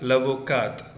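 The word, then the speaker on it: avocate: Okay, you should not pronounce the T here, and you must pronounce the T here. So that is the difference.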